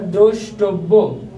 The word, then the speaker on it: দ্রষ্টব্য: Viewers, একটু লক্ষ্য করো, পূর্বে বলেছিলাম কোনো বানানে যদি আমাদের মূর্ধন্য স, দন্ত স অথবা তালব্য থেকে থাকে, উচ্চারণ রীতিতে তালব্য হয়। ভিউয়ার্স এখানে দ্রষ্টব্য, এই মূর্ধন্য ষয়ের কারণে তালব্য দ্রষ্টব, থেমে গেছি তাই জফলা বয়কারে দ্রষ্টব্য।